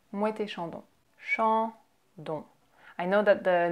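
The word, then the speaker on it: Moët & Chandon: Next, you have Mouette et Chandon. Mouette et Chandon. So we have the liaison, Mouette Chandon. And we pronounce it as if it was just one word. Mouette Chandon.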